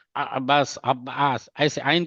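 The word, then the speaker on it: عباس: अब जैसा कि हम, अगर आप बोलेगे, एक ने बता, आप एग्जैक्ट होता है, अब्बास नहीं होता है, अब्बास, अब्बास, ऐसे आइन का निकालना पड़ता है, अब्बास ऐसे होता है।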